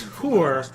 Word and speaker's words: whore: Okay, instead of a whore, and he said, "You know it's whore because it rhymes with poor."